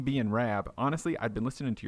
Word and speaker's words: Rab: i' never really thought RAB you know um I do find a lot of folks from the states do call me Rob or they they can't pronounce the ab the RAB but I don't know